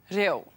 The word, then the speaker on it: reo: You'll hear the correct pronunciation of each word and then you'll see how it's spelt. Tōku. Tōku means my, referring to one item. Tōku. Reo.